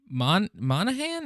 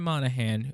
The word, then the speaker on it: Monaghan: So I think the number one name that I've seen tossed around is Cameron Monaghan. Is that how you say it? Yeah. Cameron Monaghan, who of course is from Gotham.